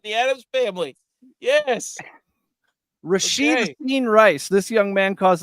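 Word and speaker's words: Rashee: Rashid Rice. This young man caused a 6-car pileup and ran away. Lucky for us, his name rhymes with flea.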